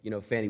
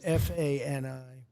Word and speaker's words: Fani: The same DA, Fannie Willis. Right, Fannie Willis. She treated you very unfairly. She goes by the name of Fani, even though it's F-A-N-I. She wants to pronounce Fani.